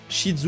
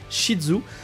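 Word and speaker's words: Ishizu: de Marek isidzu donc shidzu moi personnellement je le prononce shidzu donc n'hésitez pas déjà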